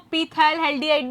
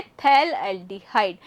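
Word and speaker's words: phthalaldehyde: बहुत बच्चे इसको पीथैल एल्डिहाइड भी बोलते हैं, पर ऐसा मैंने सुना है कि यहाँ भाई ये जो पी है ये साइलेंट होता है और इसका नाम है थैल एल्डिहाइड।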